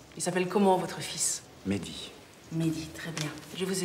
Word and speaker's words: Mehdi: Voilà, Mehdi. M-E-H-D. I.